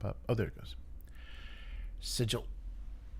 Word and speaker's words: Sigil: Sigil. Sorry, that's really funny that is the official the official American English pronunciation.